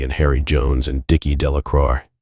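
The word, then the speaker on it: Delacroix: Harry Jones and Dicky delacro the V illers pronounced this name delacroy eventually made a great pile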